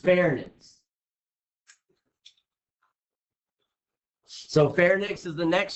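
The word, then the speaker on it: pharynx: respiratory that is my fairness is how that's pronounced fairness so fairx is the next structure basically how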